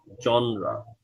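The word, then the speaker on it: genre: type টাইপের synonym হচ্ছে জনরা উচ্চারণটা কি জনরা বানানটা কি জি ই এন আর ই উচ্চারণ হচ্ছে জনরা ঠিক আছে এই সবগুলো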